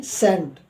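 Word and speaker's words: scent: example मैंने लिया है एस ई एन टी सेंट एस के तुरंत बाद आपका सी आया हुआ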